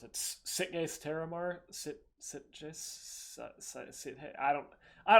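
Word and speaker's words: Sitges: how to pronounce it sickness terramar hey I don't I don't know how to pronounce it it's Spanish but terramar that it's like a sip case s-i-t-g-e-s but it's like it's a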